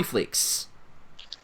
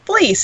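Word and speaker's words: Fleecs: Ladies and gentlemen, please welcome aboard Tony Fleeks. Hey everybody, how's it going? Going well. It's Fleece, actually. The C is a soft C.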